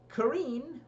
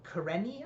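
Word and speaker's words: Kerene: Kareen, or Kareni, I believe they pronounce it in the show, is not very interesting.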